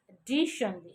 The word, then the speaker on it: additionally: What is the pronunciation of this word? A, D, E, sh, a, na, a sound. This one, reverse E, it looks like reverse E. It is called shaw sound. La, E. Additionally. Okay. This one, just a little bit. You will not pronounce it for a long time.